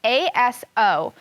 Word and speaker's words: Aso: his wife okay it's a-s-o i want to make sure i pronounce that name correctly so i'm going to go back to the glossary and it says oh i pronounce it aso aso is a nancy's